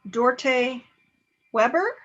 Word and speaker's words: Dorte Weber: i'm sure i'm mispronounced you're actually doing fine you pronounce it okay i know it's it's a danish name say it again yes